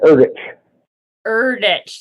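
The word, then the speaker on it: Erdrich: Native American literature and I think Louise pronounces her last name erdich thank you I was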